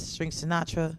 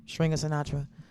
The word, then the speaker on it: Stringer Sinatra: String Sinatra. I always say it wrong. Stringer Sinatra.